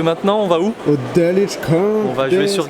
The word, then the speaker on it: Dulwich: Alors, Dulwich, ça se prononce pas Dulwich. En fait, il y a un W, mais on ne prononce pas le W, on dit Dulwich.